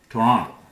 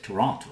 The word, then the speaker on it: Toronto: The people who live there, they call it Toronto. They do not pronounce this last T, Toronto. So you should know that. You don't have to copy that. You can say Toronto the formal way.